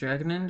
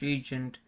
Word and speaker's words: regnant: Oh, it's pronounced regnant? I thought it was pronounced regent.